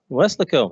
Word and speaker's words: Weslaco: Shane began his career in Weslaco, is that how you say it? Weslaco, there you go, Texas, where he was a